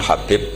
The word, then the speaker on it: Habib: yang nulis Abi Abdurrahman Habib asulami itu di harokatnya kitab itu ada yang nulis khubb tapi yang benar Oh gigih yang benar itu bacanya habib habib itu asulami itu ikut